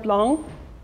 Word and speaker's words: blanc: Then we have the word blanc. And this vowel plus N combination is actually like an indication that this vowel has become nasal, so it becomes instead of a.